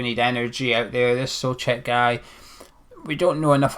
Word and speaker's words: Souček: Is that how you pronounce his name? Souček, according to the Slavia Prague English account.